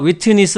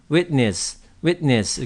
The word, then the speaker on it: witness: 자, 여기서 witness 하지 마시고 witness. 그래서 t를 꿀꺽 삼키는 그런 정도로 발음하시면 되겠어요.